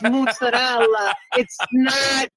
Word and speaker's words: mozzarella: Yes, but that is the correct way to say it's mozzarella. It is not mozzarella.